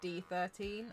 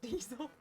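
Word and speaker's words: D13sel: for about two years I pronounced their name as D13 until they said by the way I just want to let you know that my name actually spells diesel there was D 13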